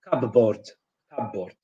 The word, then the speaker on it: cupboard: here in unstressed syllables Polish people tend to pronounce them fully so monitor certificate uh London or London comfortable C aboard um long o is often in replaced with